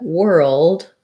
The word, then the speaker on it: world: And yes, you are correct that world sounds like the word were plus an L and a D.